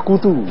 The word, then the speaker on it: Rakoto: Dan juga ada Pak Richard, tulisannya sih Rakoto, tapi bacanya Rakutu gitu ya.